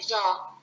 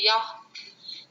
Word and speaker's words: Yah: And I want to say that when we, pronounce it, we'll say Jah, because there is no Yah in Hebrew. We are Hindi peoples, that's why we say Yah.